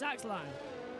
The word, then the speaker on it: Axelinio: And Axe Lino 4 is pronounced like Ronaldo, just with Axe Low. So it's, okay, thank you for that. So it's Axe Lino.